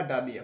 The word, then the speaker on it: dahlia: डॉग रे मिटांग के फूल नुआ को मिटा डालिया फूल ओके और नुआ डालिया बनान टा तो